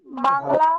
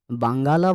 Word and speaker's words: বাঙ্গালা: 1000 বছরের পুরানো বাঙ্গালা ভাষায়, নট বাংলা ভাষায়, বাংলা ভাষায় নয়, বাঙ্গালা ভাষায়। বাঙ্গালা ভাষায় বৌদ্ধ গান ও দোহা, ব আকার উময় গো আকার লো আকার, বাঙ্গালা।